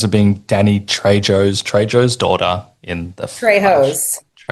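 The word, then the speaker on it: Trejo: Um, how much fun was it being Danny Trey Joe's Treyjo's daughter in the Treyjo?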